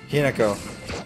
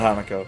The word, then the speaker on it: Hinako: Hinako. Not Hanako.